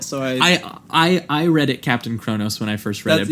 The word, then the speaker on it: Kronos: that Canadians say it Kronos yeah that's just how its spelt so III read it captain Chronos when I first read it but every time they pronounced it in the movie they say Cronus okay but either way